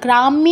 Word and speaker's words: গ্রাম্য: এখানে ইয় ফলার উচ্চারণটা খুব ভালো করে প্র্যাকটিস করবেন। ক যুগ ইয় কিয়, খ যুগ ইয় ক্ষিয়, এভাবে প্রত্যেকটা অক্ষরের সাথে আপনি ইয় ফলা যুক্ত করে কি উচ্চারণ হবে এটা ভালো করে প্র্যাকটিস করবেন, কারণ এটা কিন্তু অনেক দিনের অভ্যাস। আমরা বাংলায় ইয় ফলার উচ্চারণ কিন্তু এরকম করি না। এই ময় হসন্তটা যদি বাংলায় থাকতো আমরা কিন্তু গ্রাম্য বলতাম না, তখন কি বলতাম, গ্রাম্য, দুটো ম হয়ে যেত।